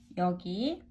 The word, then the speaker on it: 여기: okay let's write together so we'll learn here yogi pronunciation and there which is cookie cookie and pronunciation